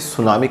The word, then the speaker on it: tsunami: name इससे सुनामी द इस मिट्टी साइलेंट होता है इसको सिर्फ सुनामी कहा जाता है इसलिए मिट्टी लिखा जाता है याद रखिएगा इस बात